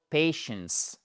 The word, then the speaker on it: patience: Non. For patience. accentuation ici sur les deux premières lettres worked ok je vous